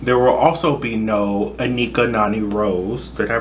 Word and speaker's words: Anika Noni Rose: There will also be no Anika Noni Rose. Did I pronounce? Yeah, Anika Noni Rose.